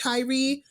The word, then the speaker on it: Tyre: And I know this is coming out a little bit later, but I believe his name is pronounced Tyree.